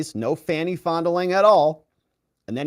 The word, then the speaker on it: Fani: it you saw what happened in Atlanta with fonnie f ni fonnie how do you pronounce f a n i fny it's Fanny they interviewed her I would never have an